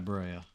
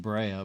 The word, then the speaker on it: Brea: You know, I keep saying Brea, but I'm pretty sure, like, it's pronounced Bre. Like, I feel like it's not officially pronounced that way, but if you think of the word like breath, the B-R-E-A makes a eh sound.